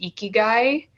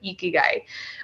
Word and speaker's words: ikigai: Yeah, that reminds me of, there's a concept in Japan, I believe it's pronounced ikigai.